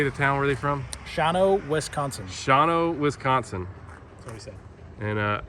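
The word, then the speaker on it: Shawano: do you say the town were they from shawno wisconsin shawno wisconsin and uh they do a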